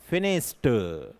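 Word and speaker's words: finished: फिनिश्ड, नॉट ड।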